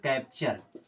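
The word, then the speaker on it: capture: में जुड़ गया चर तो क्या हो जाएगा कैप्चर क्या होगा कैप्चर एम आई एक्स मिक्स मीस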